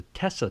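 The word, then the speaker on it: Tesa: it says swiss-made and this is known as a Tessa test not tes a test which by the way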